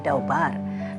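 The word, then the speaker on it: דבר: Nah, kemudian arti kata membicarakan yaitu dabar atau dibacanya daubar dalam bahasa Ibrani artinya berbicara, berbincang, berjanji, memerintah, memperingatkan, dan bernyanyi.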